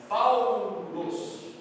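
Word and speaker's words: Παῦλος: Mas quando ela aparece formando ditongos, por exemplo aqui, o alfa com o Y, formou um ditongo. Aí sim ela vai ter o som de U. Como que eu pronuncio isso aqui? Paulos, ou Paulo, né?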